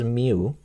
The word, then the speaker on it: mu: the other one, and we pronounce it as mu.